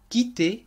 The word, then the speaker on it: quitter: ولاحظوا أن صيغة الماضي والمصدر يلفظان بنفس الطريقة quitter quitté. وهذه ميزة أفعال المجموعة الأولى في الماضي. والسبب هو أن نهاية أفعال المجموعة الأولى ER تلفظ E تماما مثل الحرف E accent aigu.